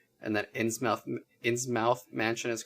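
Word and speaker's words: Innsmouth Mansion: ins mouth mansion um also referred to as insane mouse mansion though this this one online article said that is a mispronunciation and that ins ins mouth mansion is correct based on like the lovecraft story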